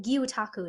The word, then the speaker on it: Gyotaku: Also, it's pronounced Gyotaku because I think I was saying Gyotaku before, but Gyotaku is the correct pronunciation.